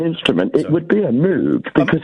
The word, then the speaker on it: Moog: it would be a moog because it's hang I I think we mean of course a Moog. I Let's get the pronunciation correct.